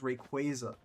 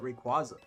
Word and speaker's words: Rayquaza: a while but they announced that the proper pronunciation was Rayquaza. I am one of the people who used to call it Rayquaza.